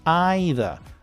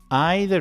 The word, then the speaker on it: either: And so you guessed it, it's also the same for the positive. Either. Either is British and either is American.